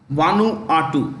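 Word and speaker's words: Vanuatu: should be hit H here hit one or2 one R2 that's how you pronounce it wanu R uh a 7.3 magnitude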